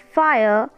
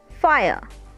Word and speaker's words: fire: Friends, in the word fire, one vowel is silent, so that will not count it as a syllable. Like fire, fire.